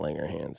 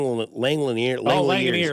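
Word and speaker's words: Langeliers: No, it's not Langanger Hands. It's Lang Langliner.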